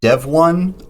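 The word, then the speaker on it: Devuan: well the pronunciation is dev1 like dev the word for the shortened word for developer and then it's pronounced one like the number but it's spelled u-a-n uh my understanding is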